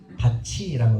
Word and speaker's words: 밭이: 발음되는 것을 구개음화라고 합니다 밭이 바티가 아니라 바치라는 거고 굳이 뭘 하냐 할 때는